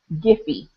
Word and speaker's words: Giphy: This is another little website, and it's called Giphy.